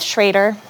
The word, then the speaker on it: Schroeder: together thank you my name is Shader it is spelled Schroeder sorry my apologies no